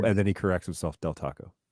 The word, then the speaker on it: Del Taco: then he corrects himself del taco i really appreciate that dell d-e-l yes you're calling it